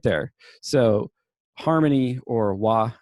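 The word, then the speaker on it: 和: there so harmony or wah as it's pronounced in japanese is fundamental it's like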